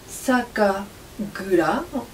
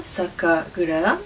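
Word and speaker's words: 酒蔵: Sakagura, on prononce comme ça, Sakagura signifie la brasserie où on élabore et conserve le saké.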